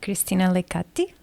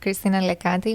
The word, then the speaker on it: Christina Lekati: Christina Lekati. Is that correctly pronounced? That's absolutely correct, Christina Lekati.